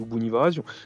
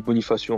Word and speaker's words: Bonifacio: En Corse, on dit Bonifazio. Bon, on dit Bonifacio en français.